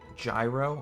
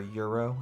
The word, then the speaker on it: gyro: beg you to find a gyro or euro as it's properly pronounced but i'm white and